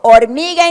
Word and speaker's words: hormiga: So, hormiga in Spanish begins with the letter H. It's a letter of the Spanish alphabet that is a silent letter.